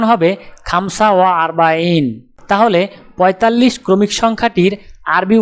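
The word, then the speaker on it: خمسة وأربعون: উচ্চারণ হবে খামসা ওয়া আরবাইন। তাহলে 45 ক্রমিক সংখ্যাটির আরবি উচ্চারণ হবে খামসা ওয়া আরবাইন।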